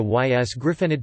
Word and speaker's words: ysgrifennydd: Note also how adding a syllable to ys griffonide to form ys griffonides changes the pronunciation of the second y. This is because the pronunciation of y depends on whether or not it is in the final syllable.